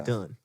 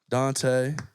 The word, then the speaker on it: Dan: I mean he's he's done it all this is Don Dante good friend of ours we're excited to welcome him down here it's not Dan it's Don it's Don say it right my